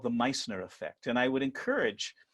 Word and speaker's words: Meissner: There is in physics a phenomenon called the Meissner Effect, and I would encourage anyone who's interested to go look it up. It's spelled M-E-I-S-S-N-E-R, Meissner, M-E-I-S-S-N-E-R, the Meissner Effect.